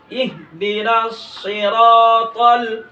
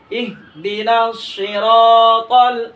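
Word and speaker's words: صراط: না তার জায়গায় তকে মোটা করে দিয়ে পড়বো সিরাতাল আবার সিরাতাল আবার সিরাতাল মুস্তাকিম মুস্তাকিম আবার ইনশাল্লাহ একসাথে ইনশাল্লাহ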